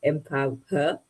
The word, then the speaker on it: Empowher: W H E R so it's empower um play on words there uh because I I